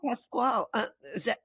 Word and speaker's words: Pascual: Well, so tell me about Pascual. Am I pronouncing it correctly?